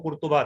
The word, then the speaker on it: قرطبہ: کر دی جائے کہ اس کو لوگ قرطبہ بھی کہتے ہیں، لیکن اس کا اصل عربی تلفظ عربوں کے ہاں جو تھا وہ قرطبہ تھا۔ انگریزوں نے چونکہ بہت